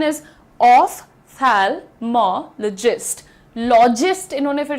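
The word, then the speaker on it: ophthalmologist: यह जो तुम्हारा पीएच होता है, इसको जब तुम फिजिक्स पढ़ते हो, तो यहां तो फ का साउंड दे देते हो। फिर यहां पर फ का साउंड क्यों नहीं देते हो? देना चाहिए।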